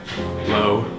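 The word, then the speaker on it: Lowe: from the waist down what's your last name low spell that for me what's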